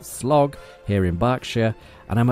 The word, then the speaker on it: Slough: And today I'm in the very quaint looking Slough, which I'm told is pronounced Slog, here in Berkshire.